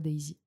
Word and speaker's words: Daysy: sur mon nom d'artiste day sy euh pour une prononciation un peu plus à l'anglaise aussi euh sachant que j'ai des des racines anglaises dans mon sang euh donc euh donc voilà pourquoi Daisy et ben je vais